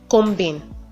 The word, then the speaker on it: comb: is actually common to hear people say home combin combs from cramps don't owe these words herons pronounced like this the be at the end